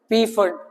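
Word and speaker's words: Pfund: last कौन सी है पी फंड फंड नहीं खाली पी फंड ठीक है साइलेंट मत बोलो फिर उसको ठीक है पी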